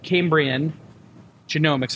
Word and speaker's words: Cambrian Genomics: And as you can see, we're on location today, and we're here at Cambrian Genomics. I pronounced it correct?